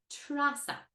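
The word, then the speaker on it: Treasa: Teresa becomes Trasa in Irish.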